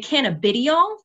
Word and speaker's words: cannabidiol: How would you pronounce the scientific name for CBD? Now, I, as you had heard, say cannabidiol.